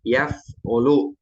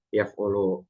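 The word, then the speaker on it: يَفْعُلُ: pada fi'il mudhari nih, yaf'ulu, yaf'ulu. Jadi nanti ada yang fa'ala yaf'ulu, fi'il mudhari'nya ainnya berharokat dhammah. Kemudian yang kedua ada yang fa'ala yaf'alu, ainnya fathah.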